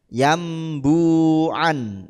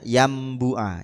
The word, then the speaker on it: Yanbu'a: yang rasem Utsmani nih biasanya yambuan itu sama atau bacanya yambua Yan buua sama dengan yambua waakfrum bihi itu biasanya